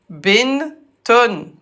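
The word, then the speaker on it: بنت: Binton se prononce Bint.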